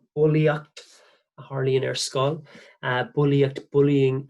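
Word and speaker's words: bulaíocht: Sounds like the word in English, bulliacht, Harley in skull, bulliacht, bullying at school.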